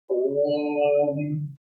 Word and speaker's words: Om: So how it is pronounced? O 3 times longer. Om. When it is 3, means you have to extend the sound of O by 3 breaths.